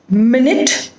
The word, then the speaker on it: minute: set of words m-i-n-u-t-e now this has two different pronunciations the spelling is the same but two different pronunciations and the meaning will also get changed minute and minute so minute is referred to time and minute means something that is very small like minute details so how do we